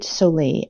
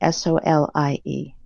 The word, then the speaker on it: David Solie: And the author is David Solie, Solie.